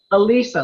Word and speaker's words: Elisa: your club so Oh Alyssa is that how you pronounce it ELISA like Lisa with the name be